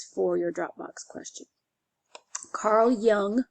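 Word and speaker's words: Jung: your Dropbox question Carl Young remember this is pronounced as if it's a y um split off from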